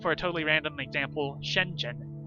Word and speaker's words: Shenzhen: Take, for a totally random example, Shenzhen. How do you say it? What's the ZH doing in there? Can you just ignore the H? Spoiler warning, you can't. ZH is its own sound in Chinese.